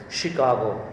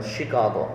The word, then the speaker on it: Chicago: of this world is chicago remember chicago okay she sh um the spelling is ch but pronunciation is sh shi chicago one of